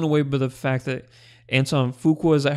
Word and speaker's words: Antoine Fuqua: I was blown away by the fact that Antoine Fuqua, is that how you pronounce his name? Yeah. Okay, so Antoine Fuqua.